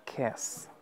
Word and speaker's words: kiss: Es como si quisieras pronunciar kiss con una E, pero no llegas a hacer la E completamente. Simplemente dices kiss, kiss. Esta I, como si fuese una I latina, pero mayúscula, es la I no estresada. No es keys, es kiss.